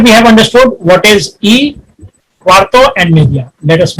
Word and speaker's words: y: So from 0 minutes till here, till 30 minutes, we use the word Y, which is pronounced as E in Spanish.